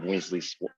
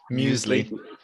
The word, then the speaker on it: muesli: but no we don't have weasley's weasley or how do you say it again muesli yeah we don't we don't